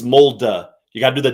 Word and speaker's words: Molde: I had a couple people actually tweet at me, Sia, the mold one, it's Molde.